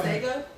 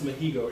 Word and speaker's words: Masego: Until she saw Masego? No, it's not. Masego? It's Mahigo. It's like the G is like an H, and like the way it's pronounced, it's like H.